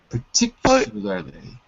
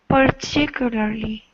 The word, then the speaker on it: particularly: with those two words so the trick is it looks like par but when we say it quickly it's more like per par parly particularly particularly that's right okay um